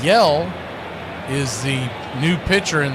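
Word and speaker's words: Hjelle: Yell is the new pitcher in the game. It's spelled H J E L L E, but it's spelled Yell.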